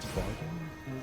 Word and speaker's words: Bardem: Silva from Skyfall was Javier Bardem. Is that how you Javier pronounce it?